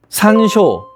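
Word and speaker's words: 山椒: 산쇼 . 발음 은 한국어 산초 와 비슷합니다 .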